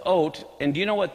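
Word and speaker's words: אות: the Olf B and the Tav is how it's spelled it's oat and do you know what this word actually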